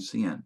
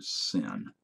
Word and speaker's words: cin: They're pronounced cout and cin, not count or sin.